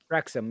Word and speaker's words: Wrexham: Master, It's pronounced welcome back. Wrexham? Wrexham, yeah.